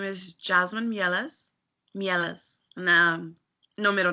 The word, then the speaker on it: Mieles: give me your full name and how you pronounce it okay my name is Jasmine Ellis Ellis no no middle name what is your